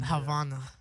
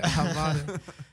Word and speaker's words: Havana: Havana. That's how you say it. Havana.